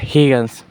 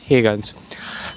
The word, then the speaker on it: Huygens: थी वो थे क्रिश्चियंस हेगंस। कुछ लोग इनका नाम अलग तरीके से प्रोनाउंस करते हैं। हमें यह तरीका अच्छा लगा और ज्यादातर लोग यही कहते हैं क्रिश्चियन हेगंस।